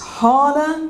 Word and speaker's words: Hala: So, I kind of go, it's Hala. It's a bit like Carla. It's just 2 syllables.